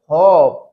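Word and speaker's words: hope: अब यहां पर देखिए एच ओ पी ई यहां पर लास्ट में इ है। इसको तो हम प्रोनाउंस नहीं करेंगे इ को। लेकिन अब इस ओ जो वोवेल है इसकी साउंड हो जाएगी long. H ओ पी ई को हम रीड करेंगे होप।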